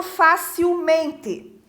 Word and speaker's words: facilmente: E o mesmo vai ocorrer no facilmente, né?